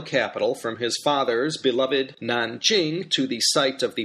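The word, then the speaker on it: 南京: And Nan, second tone, means south. So Nanjing, southern capital, Beijing, northern capital.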